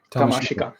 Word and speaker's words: Tamashika: uh Tom to how do you sayas yeah tamasik yeah uh so U I like that because